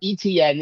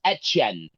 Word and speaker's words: Etienne: It's not ETN, it's Etienne now. It's ETN. I don't think he even cares. He change doesn't care if you call it however you want to call it. No, he cares. he actually said that my name is not ETN, it's Etienne. Etienne.